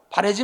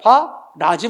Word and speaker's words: 바라지: 흔히들 바래다, 나무래다가 발음하기 쉽다 보니까 자꾸 사람들이 나무래지 마라, 바래지 마라 이렇게 말하고 그렇게 쓰는 경우가 있는데 잘못된 거야. 나무래지 마라가 아니라 시작. 나무라지 마라. 바래지 마라가 아니라 시작. 바라지 마라.